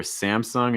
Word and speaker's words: Samsung: our next one okay so our first one samsung samsung okay so a key thing here for samsung is that um you have that a sound